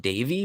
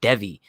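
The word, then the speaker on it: Deivi: wanted to ease davey dev just keep saying davey you wanted to ease down okay wait bro apparent okay so apparently it is pronounced davey but when i heard cashman say it he said devi so it's like i just go devi because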